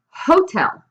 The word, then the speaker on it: hotel: For example, por ejemplo, hotel is like written like hotel, but the H is silent.